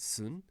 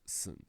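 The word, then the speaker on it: 寸: In Chinese is pronounced sun, but in Japanese we pronounced it sun. And it means it's a little bit more than an inch long. But it's pronounced, more importantly, it's pronounced sun.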